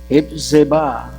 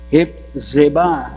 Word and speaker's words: Hephzibah: O sa mapapronounce yan Hipzeba. Hipzeba. Z-I. Alright, nyang yuta, unsa naman ang ngalan? Kay ilisda naman sa old name nga desolate. But thou shalt be called Hephzibah.